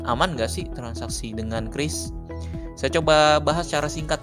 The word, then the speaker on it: QRIS: respon hot Indonesian standar kalau lihat bacaannya dulu saya suka bilangnya curis ya tetapi Bank Indonesia sudah memberikan penjelasan membacanya adalah Kris dia diterbitkan oleh asosiasi